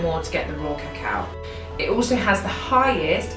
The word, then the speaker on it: cacao: organic raw cacao and no it's not cocoa and it is pronounced cacao just in case that